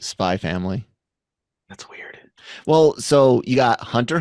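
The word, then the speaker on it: Spy × Family: my family is great don't need to pronounce the X on that one what Spy cross family it's not spy it's just spy family well so you got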